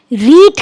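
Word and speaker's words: read: रीड का third form रेड होता है, same spelling but pronunciation is रेड.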